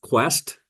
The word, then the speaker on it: KWEST: I said qu but I meant is it pronounced Quest K West Quest yes it is Nets Quest